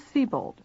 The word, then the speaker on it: Sebold: Is that the way it is pronounced?" "Yes." "Miss Sebold, you said you were at 321 Westcott Street on the night of the incident."